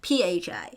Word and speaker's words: Phi: five whoa what is five a Greek letter pronounced f h i uh f h oh my gosh p-h-i Phi now 5m is basically the number of